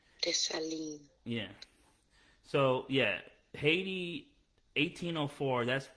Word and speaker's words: Dessalines: How do you pronounce Dessalines? Dessalines.